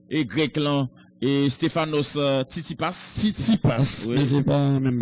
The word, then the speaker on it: Tsitsipas: non, c'est Stéphanos Tsitsipas. Les- Tsitsipas. Non, le gon S que yo pas. Non, non, non, TS, ça, c'est Tsitsipas.